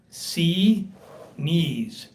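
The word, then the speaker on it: Xinis: I spoke to a clerk in the court, and she sounded authoritative, and she said it's pronounced C-knees.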